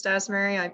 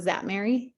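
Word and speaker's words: Szatmary: for the record Miss dasmary I apologize I'm terrible with names hi this is zatmary the S is silent thank you thank you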